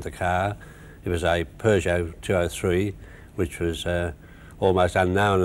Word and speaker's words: Peugeot: They were talking about Peugeots and Peugeots. that's true. Well, the way of pronouncing it is like the French pronounce it, and that's Peugeot.